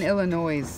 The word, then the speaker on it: Illinois: People are gonna yell at you for saying Illinois. It's Illinois.